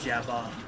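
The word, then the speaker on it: Jabbawockeez: Like, I know the dance group, it's not Jabber, it's Jabba. Like, Jabberwocky.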